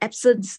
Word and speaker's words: absence: Even though the spelling is POINTE, the same like the absence seizure is like absence, but the pronunciation is French word, so that one is absence.